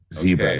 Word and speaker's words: ZCEBRA: Today we have a special guest from I hope I pronounce it correctly, Zebra. Exactly. Zebra.